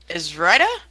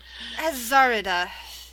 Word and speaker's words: Azarida: So Zar is Izrida? Is that how you say it? Azarida. It is Azarida.